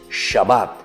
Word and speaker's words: Shabbat: En hebreo, queridos niños, se dice Shabbat.